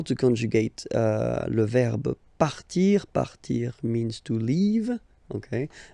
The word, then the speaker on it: part: Il, elle, part. Final T not pronounced. Il, elle, part.